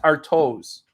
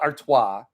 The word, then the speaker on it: Artois: not an all-brevity thing he says our toes our toes i know it's stella artois i understand i say